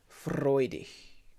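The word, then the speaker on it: freudig: like in freud freudiche the g at the end of a word in german is like a it's like a like quite a soft her almost i mean it's a soft g but we don't have one in english so h is sort of the similar closest thing we have freudia so let's try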